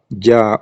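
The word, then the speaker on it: جَ: Donc, la lettre est en bas, Ja ou, mais c'est Fatah qui est en haut, mais on prononce avec Fatah, ça va donner Ja.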